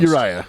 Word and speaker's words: Uriah: i'm i'm mormon so i want to i want to do a hard eye on every every eye who knows no nephew is how it's pronounced uriah okay so although he